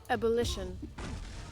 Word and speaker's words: ebullition: Ebullition? Am I saying that right? We're going to Google on that one. Can we get a pronunciation on ebullition, please? Ebullition. Okay, so I was wrong.